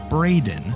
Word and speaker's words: Braden: Also, while we're on the topic of mispronunciations, a concerning number of our listeners seem to believe Braden, spelled B-R-A-D-E-N, is pronounced Brandon or Brendan.